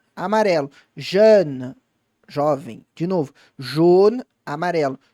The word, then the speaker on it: jeune: Treina distinguir isso na sua fala. Jeune, jaune. Tenta conseguir pronunciar os dois.